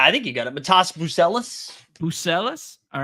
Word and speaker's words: Matas Buzelis: Matas Buzelis.